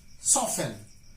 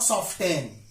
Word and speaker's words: soften: fashion not fasting fashion Hashem not has ten soften not soften soften Christmas mortgage asthma not as common as